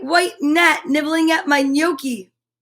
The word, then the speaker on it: gnocchi: net nibbling at my gnocchi see that g is silent a gnome gnat and